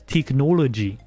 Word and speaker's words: teknologi: In Norwegian, you say technology as teknologi, okay? So it's technology. I might be putting a weird accent on, but that's how you say it in Norwegian.